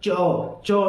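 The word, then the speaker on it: chore: चौ। इसको बोलेंगे चौ। आर साइलेंट है यहाँ पर।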